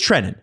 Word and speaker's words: Trenin: It says trenin. It is trenin.